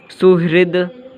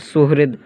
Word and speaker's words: सुहृद: हम लोग देखते हैं, इसका प्रोनाउंसिएशन नहीं करते, सुहृद डायरेक्ट बोलेंगे द।